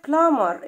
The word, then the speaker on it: plumber: سباك plumber. البي هنا silent البي خفيف، أول ما تيجي بعد الام منطقها تكتب وتهجى ولا تنطق.